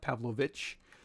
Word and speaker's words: Pavlovich: It's spelled CH, but I think originally it was spelled Pavlovic and had maybe a little line over it, like how they spell it in Croatia. And so it was pronounced Pavlovich, like it's spelled now in here in America. But it was originally Pavlovic or Pavlovich with the C.